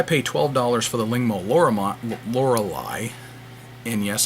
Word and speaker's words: Lorelei: When I pay $12 for the Lingmo Lorelei, and yes, that's how I'm going to pronounce it, because that's how the song by Styx pronounces it. Lorelei, let's live together.